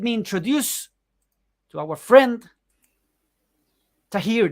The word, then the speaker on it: Thaheer: introduce to our friend Tahir did I pronounce correct your names are here that's 100 perfect thank you that is